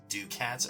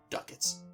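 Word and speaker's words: ducats: a moment to say I was pronouncing this do cats earlier so yeah but yeah 700 duckets or gold you didn't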